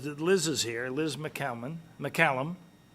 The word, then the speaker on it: McCammon: So anyway, so the good news is that Liz is here, Liz McCallum. Right the first time. Rhymes with salmon, remember, McCammon. McCammon.